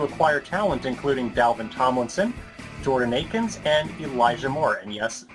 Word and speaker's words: Jordan Akins: So far, the dollars have been stretched well to acquire talent including Dalvin Tomlinson, Jordan Akins, and Elijah Moore. And yes, this time I'm actually pronouncing Jordan Akins' name correctly.